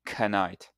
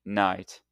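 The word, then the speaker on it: knight: Now if you were saying these directly you would say canite and physicology but in English we ignore the first letters and we just pronounce the main sounds in the word like night and psychology.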